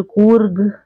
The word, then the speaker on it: कूर्ग: तो इसको हम कहते हैं कोडगु या फिर कोडागु भी कहते हैं, क्योंकि कई बार क्या होता है कि जो बोलने का जो हमारा प्रोनाउंसिएशन होता है वो थोड़ा सा सबका अलग अलग हो जाता है जो राज्य के हिसाब से।